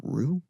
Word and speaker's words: Rou: It's Rowe Reynolds. Like the pasta sauce.